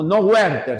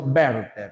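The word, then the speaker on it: Werther: Werter, sino verter, ya? Porque es del alemán, ¿ya? Werter.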